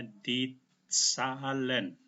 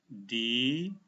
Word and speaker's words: die Zahlen: TS, sehingga cara bacanya Ditzahlen. H ini, huruf H yang berada di belakang huruf hidup, H-nya tidak dibaca, tapi huruf A yang dibaca panjang. Oke? Jadi cara bacanya Ditzahlen.